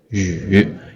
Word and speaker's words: 与: It's a little hard to pronounce, right? 语 you have to pout your mouth. 语 like you want to kiss someone.